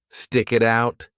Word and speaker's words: stick it out: The T in it is between 2 vowels, so we connect those sounds together and pronounce the T like a soft D. Stick it out, stick it out, stick it out.